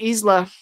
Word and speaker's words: Isla: It's pronounced Isla.